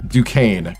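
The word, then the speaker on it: Duquesne: Pronounced Dukane. Gotcha. Thank you. Yeah, I I knew it was a little bit of a different pronunciation.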